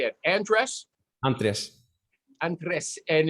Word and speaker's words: Andres: him andy andy but it's really andres how do you say your name andres anthony no it's not andreas michael g cox thinks